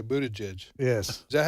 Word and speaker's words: Buttigieg: And nobody's talking about Buttigieg, except Buttigieg is talking about himself. Who? Pete Buttigieg. Pete Buttigieg. Who? You just want us to keep saying. I just wanted to hear you say Buttigieg.